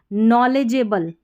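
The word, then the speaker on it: knowledgeable: नॉलेजेबल, ये है नॉलेजे, DGE को ज पढ़ा और EA को ए, नॉलेजेबल, नॉलेजेबल, KN में के साइलेंट है, नॉलेजेबल जानकार।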